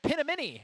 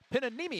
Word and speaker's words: Pinanimi: Chad Pinamini in for the first time. Pinanimi, excuse me. I'll tell you what, it is not spelled how it's pronounced.